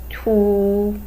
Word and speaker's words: 凸: Pronounced in Chinese is 凸.